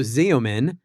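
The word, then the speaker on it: Xeomin: Zean for the So, we're just we're going to get the pronunciations right. Yes. Yes. So, Zomin is going to be is going to be a just another brand of a neurotoxin.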